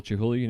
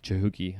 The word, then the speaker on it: Chihuly: are like, oh, Dale Chihuly, he is. I'm like, yeah, of course. Or I hear like Chihuki. People can't even say his name right.